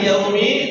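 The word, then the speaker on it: يَوْمِ: naasiki cobaiki nah hati-hati yaumi tidak boleh ada dua kesalahannya satu berubah wau jadi O ya orang yaikiumidin kesalahan yang kedua huruf wau itu selain tidak boleh berubah jadi O membacanya dia harus lembut makanya huruf wau dalam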